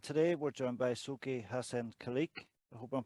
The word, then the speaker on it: Haisan Kaleak: And today we're joined by Soke Haisan Kaleak. I hope I'm pronouncing that right, Soke. Yeah, Hassan Kaleak, yes, sir.